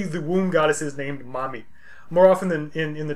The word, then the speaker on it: Mami: She's referred to also as Belet Ili, or Mami, and literally that's how it would be pronounced, Mami.